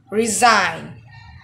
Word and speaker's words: resign: say reagan it's incorrect it will be rain resign resign resign in this word the letter g is in not pronounced or read a silent letter so it